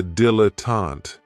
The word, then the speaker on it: dilettante: Another great noun, which is another one of my favorites, is a dilettante, and this word has 3 syllables, and there's kind of like a stress on that first and last syllable.